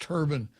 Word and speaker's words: turbine: It's called a diesel turbine, Turbine. I would probably pronounce it turbine, except I've heard it pronounced turban, sort of like what King Farouk would wear in his head, a turban, right?